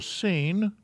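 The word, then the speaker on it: שׂ: a an sh sound this one is a sin or a scene and we know that because the dot is on the left hand side and it has an s sound these are the same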